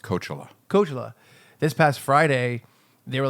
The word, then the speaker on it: Coachella: It's pronounced Coachella.